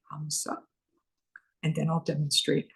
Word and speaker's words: Hamsa: I am going to spell it Hamsa, Hamsa, and then I'll demonstrate how we use it. On our in-breath, we say hum silently to ourselves. And on our out-breath, we say sa silently to ourselves.